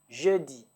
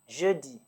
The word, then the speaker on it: jeudi: Thursday is Jeudi. Starts with a J. Jeudi.